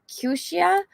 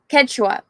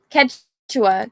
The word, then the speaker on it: Quechua: Greedo's dialect is similar to, I'm going to butcher this, Kyusha. So I took that to my Kyushu. How do you say this? Let's see. Pronunciation. Quechua. Okay, cool. Quechua, Grandpa.